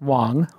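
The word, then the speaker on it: Huang: one-percenters as we say my guest today Laura Wong and it's pronounced well it's pronounced wong wong but it's spelt and you can follow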